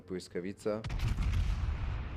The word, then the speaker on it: Błyskawica: I hope I'm pronouncing it correctly, but a Polish guy once told me that this L with a slash through it is actually not pronounced an L, it's pronounced a W.